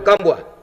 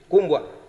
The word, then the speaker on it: Kumbwa: Okay, Honorable Kambwa. Thank you, Honorable Deputy Speaker. Just a correction on the pronunciation of my name. Kumbwa. You have Shumbwa, you have Kwambwa in Namibia, but mine is Kumbwa.